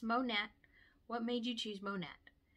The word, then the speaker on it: Monat: you choose monette and yes it is monet makes me think of mo gnat because it's short for modern nature that is indeed how you pronounce it for longest time in my anti-mlmness i always thought it was monet but no it's monette what made you choose